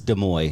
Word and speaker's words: Des Moines: to Los Angeles Unified School District, it's Des Moines. Des You don't Moines. pronounce the She's S.